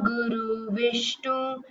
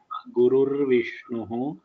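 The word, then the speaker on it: गुरुर्विष्णुः: Guru Vish, Guru Brahma, Guru Vishnu, Guru Devo Maheshwarat, Guru Sakshat Parambrahma, Tasmai Shri See, you should practice the pronunciation properly. Gurur Brahma, Brahma, Gurur Vishnuhu, Gurur Devo Maheshwaraha.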